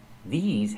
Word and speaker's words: these: The pronunciation these has the long e like green beans and the z sound like in zebra with vibration these clothes.